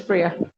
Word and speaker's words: Priya: Is it Priya? It's Priya. You pronounced it well.